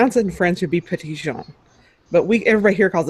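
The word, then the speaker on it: Petit Jean: Uh if you were to pronounce it in French it would be Patision but we everybody here calls it Pedigene.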